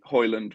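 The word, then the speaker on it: Højlund: his name so yeah the thing at the end is like silent you kind of hold the end for an extra second so it's like okay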